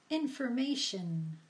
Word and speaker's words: information: let's take a look words ending in the suffix tion are pronounced shin and not shown so shin shin let's try a few words information information position position creation